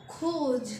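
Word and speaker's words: rouge: यू जी E same as इट इज इसकी pronounce भी same है बोलना भी इसको सेम है तो इसको पढ़ेंगे रेड को खोज क्या पढ़ेंगे खोज तो रेड को बोलेंगे खोज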